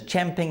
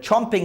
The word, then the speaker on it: champing: And as they say, the correct pronunciation is champing at the bit, but we call it chomping at the bit.